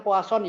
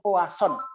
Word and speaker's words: Poisson: lanjutkan distribusi poisson Watson bacanya poasan Ya A Poison atau puas on sama lah ya Nah dia Jadi